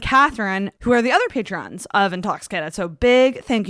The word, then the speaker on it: Patreon: patron and my only fans is that not pronounced patron patreon oh patreon i spelled it in all fairness i spelled it wrong in the chat uh well i think i always thought it was called patron pedrot yeah and do not forget to follow